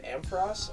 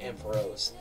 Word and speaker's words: Ampharos: on this shiny list we have amperos or you can pronounce it amp rose maureep and its evolutionary